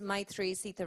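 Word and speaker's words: Maithreyi: myself my name is my three-seater that's pronounced my and the number three that spelling will throw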